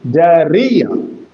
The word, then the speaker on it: diarrhea: And when it is a trisyllabic word, you will have to give stress or accent on re, diarrhea, diarrhea. So the accent is on the middle syllable.